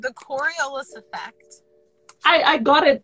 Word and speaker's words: Coriolis: the windows a little bit it's called the coriolis effect i i got it it's just that